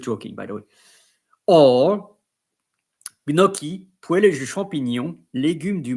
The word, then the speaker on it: gnocchi: Like in French, chi it's chi, but because it's pronounced as all'italienne, you are pronouncing it gnocchi because chi in Italy it's chi.